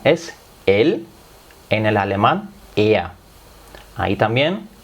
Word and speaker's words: er: En el alemán er. Ahí también er, muchos lo pronuncian ea. No pasa nada, ea se entiende perfectamente.